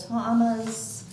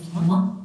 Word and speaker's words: Toma: I hate to interrupt, but his actual pronunciation of his last name is Toma.